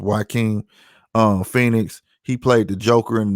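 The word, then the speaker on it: Joaquin Phoenix: to spell start with his J but it's pronounced y king Phoenix he played the Joker in new Joker movie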